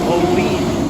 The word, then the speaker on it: Olean: It is pronounced O-E-N. Olean.